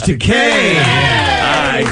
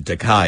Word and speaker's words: Takei: a delight to have you pronounce my name properly thank you it's you know I'm sure it's flattering though I mean they didn't mean to Mis sure and I I don't object to takai either because takai is a